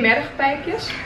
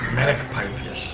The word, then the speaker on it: mergpijpjes: Can you say mergpijpjes? Let me read it. No, it's because you will pronounce it wrong. The G is like mergpijpjes. Mergpijpjes. No, niet mergpijpjes. Mergpijpjes. Merg. Mergpijpjes.